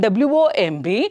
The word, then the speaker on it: womb: Here for co it is comb, here it is womb, and the next one here it is bomb, here it is tomb.